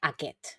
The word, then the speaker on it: aquest: aqu estus pital pero lo común es pronunciar aquet como os he puesto aquí